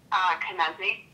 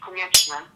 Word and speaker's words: Konieczny: Carnigie. Really? But in Polish it's Konieczny.